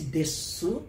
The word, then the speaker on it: です: na língua japonesa né Então dependendo da região pronuncia-se Desu claramente e outros vão engolir o fic des certo então quando vocês